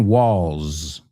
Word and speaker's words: walls: The second one, walls. Esta tiene una S, pero suena como una Z.